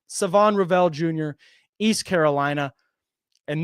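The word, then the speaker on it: Shavon: probably read it as Shon but the H is silent it's Savon silent h Savon Rell Jr East Carolina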